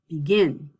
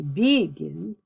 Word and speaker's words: begin: up here so uh i would say begin i don't say begin begin so when i